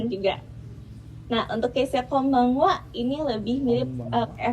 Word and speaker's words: konbanwa: Hati-hati konbanwa tulisannya sama N seperti konnichiwa. Ini hampir mirip seperti M.